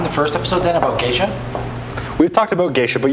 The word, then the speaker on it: geisha: Well, it's still going to be pronounced geisha. It's named after a town in Ethiopia, and when you're translating